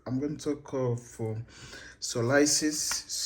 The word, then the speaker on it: psoriasis: going to talk of solisis so others SP in Africa pronounce it as psorasis but so the P silent pis so what is